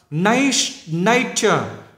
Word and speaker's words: nature: Rồi, nature. Nấy, nhấn âm nấy này. Các bạn nhìn thấy chưa? Nấy, có dấu sắc này.